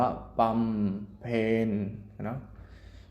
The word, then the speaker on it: บำเพ็ญ: หญิง อย่า เป็น บำเพ็ญ บำเพ็ญ อ่าน ว่า ปั๊ม เพ็ญ สึก ว่า แดง ดู